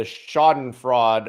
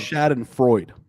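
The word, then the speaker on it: Schadenfreude: joy and the the shoddin fraud of i think i pronounced that word right i think it's shad and freud and freud yes that i always get it wrong of exposing the mainstream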